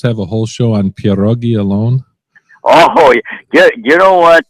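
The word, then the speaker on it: pieróg: The way you pronounce it is one pierog. One you know, if you're pierog. going to, let me have one pierog then.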